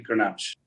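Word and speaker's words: Grenache: But it's actually ganache.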